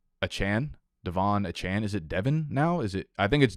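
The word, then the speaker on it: Achane: takeaway here is that we've been saying Devon a Chain's wrong name wrong the entire summer so it's achan Devon achan is it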